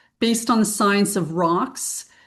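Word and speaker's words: ROX: So, Bowox, we have a whole family of products based on the science of rocks. Rocks is spelled RO X and it stands for reserve or reservoir of oxygen.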